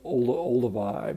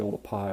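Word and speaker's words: Oldupai: I've actually visited and a lot of people call it sort of Olduvai but it's actually old a PI which was a mispronunciation of the way it's written you know in the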